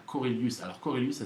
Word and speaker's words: Korelius: Vous pouvez m'envoyer un petit mail à Corelius. Alors Corelius, ça s'écrit Korelius.